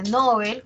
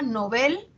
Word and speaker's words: Nobel: Dice, está muy extendida la pronunciación llana, a pesar de que se recomienda Nobel, se extiende su uso como llana, es decir, como grave, Nobel, ¿no? Incluso entre personas cultas, dice, ¿no?